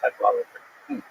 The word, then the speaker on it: Cadwalladr: The last syllable is kind of interesting because there's no vowel. It ends with DR. Carol Cadwalladr.